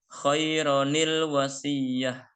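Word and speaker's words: خَيْرًا الْوَصِيَّةُ: Nah, khairan al wasiyatu dibaca menjadi khaironil wasiyah.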